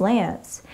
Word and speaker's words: LAANC: to test your knowledge low altitude authorization and notification capability pronounced Lance as a result of